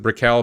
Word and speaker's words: Brickell: There's a Brickell bridge that needs to be replaced. I would pronounce it Brickell, but apparently people in Miami pronounce it Brickell.